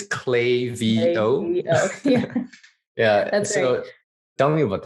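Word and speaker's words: Klaviyo: the name clavio mm-hmm a lot of people pronounce clavio as clavio and i know that's not the right way to pronounce it because i actually had a shirt that says clay v oh yeah yeah tell me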